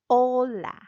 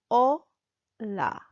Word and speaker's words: hola: for example we'll go in number one hello hola the aged word in Spanish is silent so you will say oh la oh la Ola Ola so the more you practice the better